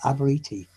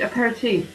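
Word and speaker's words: apéritif: so please correct me avery thief that's my record aberiti a p e r i t i f i'm aboriginal sweet a pair of teeth yeah yeah that one no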